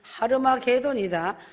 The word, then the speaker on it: 하르마게돈: 왕들의 길이 예비 되더라 아마게돈의 정확한 발음은 하르마게돈이다 하르마 계도는 무기도 산이란